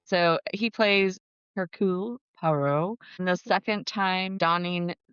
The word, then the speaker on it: Hercule: And that's how you say Hercule Hercule Exactly, right?